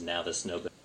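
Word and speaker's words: Navis Nobilite: That's how they say it in the Black Book, or the Black Library books, is Navis Nobility.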